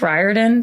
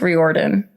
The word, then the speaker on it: Riordan: I always thought his name was pronounced Rick Riordan, but it's Rick Riordan.